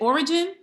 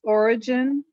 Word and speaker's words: Orijin: Is it Origin? Where's Miss Tony? Origin, it looks like. Yes, I think it's Origin. Okay, Origin. Yeah, but it's spelled ORIJIN.